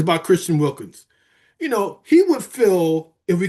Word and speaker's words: Wilkins: But is there, other than Wilkinson, I always say his name wrong, Christian Wilkins.